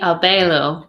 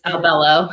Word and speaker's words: Albelo: Miss A or It's supposed to be Albelo, but it's Albello. Albello. Okay. Yeah, it's Puerto Rican.